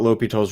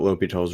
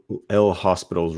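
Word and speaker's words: L'Hôpital: rule or learning about l'hopital's rule obviously it's spelled spelled a little weird l'hopital is how it's pronounced so it looks like this looks like l hospital's rule but it's pronounced l'hopital um but what this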